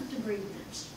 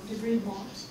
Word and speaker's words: debridement: So in terms of debridement, or debridement, depending on how you want to pronounce it, there's a variety of different ways that we can approach it.